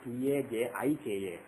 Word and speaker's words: Tajika: Raman, and some people spell it as T-A-J-I-K-A, Tajika.